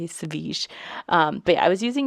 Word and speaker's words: Savjz: Okay, so his name is spelled Savjz, right? And I know that he is called Savige because that is what people have called him when he's been a guest on other people's podcasts and stuff.